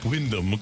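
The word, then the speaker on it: Wyndham: shots of the Le say his name the right way Windam Clark thank you that's the right way to say it wind it it sounds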